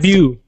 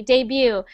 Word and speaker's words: debut: english and it's pronounced debut yes perfect exactly debut so we don't pronounce the t so just debut jenner one more time